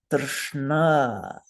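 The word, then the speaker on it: tṛṣṇā: It has one vocalic R in it, so that's the vowel, and then a cluster of consonants which are cerebral. So we're going to stick our tongue straight up into our brains and say, Drshna.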